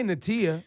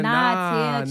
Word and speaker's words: Niatia: Like, y'all, don't say Natia. It's Nah. Yeah. Nah. It's spelled, Nah, it's like, Tia, nah, Tia, nah. chill. You wildin' like that. So, like, it's spelled Niatia, but it's pronounced Nahtia.